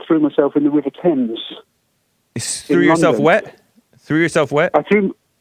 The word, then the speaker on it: Thames: and the women threw myself in the River Thames yourself wet threw yourself where are two threw myself in the River Thames Oh in the Thames River the tailless tames it looks like but it's pronounced temps th you pronounced it right I'm just telling